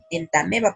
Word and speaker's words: Entamoeba: se pronuncian de otro por ejemplo en tame ba se escribe entamoeba pero se pronuncia él también va porque está en latín y así hay muchos